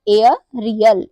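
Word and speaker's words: aerial: एओ करते हैं इसका रूल है जब किसी वर्ड में एई के बाद आर हो तो एई का जो प्रोनंसिएशन है उसे हम एओ पढ़ते हैं एग्जांपल एरिया एरिया में एई एक साथ आया हुआ है और उसके बाद क्या आया हुआ है आर आया हुआ है तो इसको हम क्या पढ़ेंगे एयर रियल एयर रियल मतलब होता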